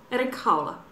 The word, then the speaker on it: Erik Haula: Erik Haula.